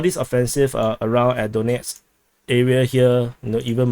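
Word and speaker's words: Donetsk: so moving on to donate front in the donate front or donate front or someone someone in the comments told me to pronounce this as danette's so danette's front the ukrainians attacked uh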